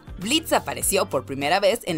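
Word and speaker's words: Blitzø: Hi there, I'm Blitz. The O is silent.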